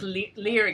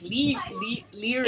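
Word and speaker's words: Laoghaire: I think it's like Leary. It's Lahire. No, it's not. That's how she said they pronounced it. She said the Scots pronounced it Lahire. But she said L''HEER.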